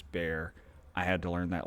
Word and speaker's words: Bexar: out there it's not bexar it's bear i had to learn that lesson too the x is silent i know it's stupid